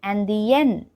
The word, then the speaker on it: indienne: So here the masculine version is pronounced as indien. Indien. And the feminine version is pronounced as indienne. Indienne.